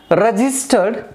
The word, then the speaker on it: registered: two syllables for example the word like registered the world like registered rah this toe 1 2 3 3 syllables are da brah this tour 3 syllables are de and the first syllable is stressed there we will have